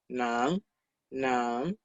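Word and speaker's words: 男: Y nan en segundo tono. Nan, nan.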